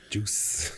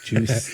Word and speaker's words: juice: How do you How do you put an S at the end of a word? Juice. Juice.